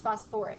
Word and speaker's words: phosphoric: you change the name phosphate goes to phos but it's phosphoric yeah so phosph kind of sounds weird so it's phosphoric acid and it's okay if you